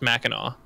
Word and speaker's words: Mackinac: Mackinac Mac and all spelled mechanic but it's pronounced Mackinac and stuff like that there's a lot of